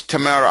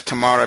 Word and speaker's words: Tamara: I I I use Tamara I pronounce your name as Tamara because that's an Egyptian name or this is the Egyptian way of pronouncing your name uh you might be